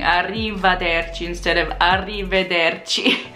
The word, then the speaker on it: arrivederci: It's not arrivederci, it's arrivederci. Not arriva, it's arrive. So if you say arrivederci, people know you're not local because you're saying arrivederci instead of arrivederci.